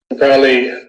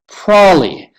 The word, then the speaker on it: probably: Well, my father has reduced the pronunciation by a whole syllable. And this is what he says. Probably. Prawley.